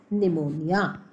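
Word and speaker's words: pneumonia: Now second disease, A bacterial disease, it इज़ निमोनिया. P silent है बच्चों इसमें.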